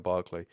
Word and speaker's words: Berkeley: Well, but Berkeley, like, Berkeley, California is named after him, so I think it's Berkeley, but you Brits might pronounce it Berkeley, I don't know. It might be I thought it was Bishop Berkeley, to be honest with you, but I don't know if it's Berkeley or Barclay.